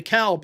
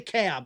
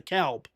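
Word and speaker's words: DeKalb: uh in uh the Calb as well. It's in in Illinois. It's the Calb. It's not the CAB like it is in Georgia. It's the calp. Um, we pronounce the L here.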